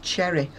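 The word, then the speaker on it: Xerri: She's called Jen, I think you pronounce it Cherry, although it's written X-E-R-R-I.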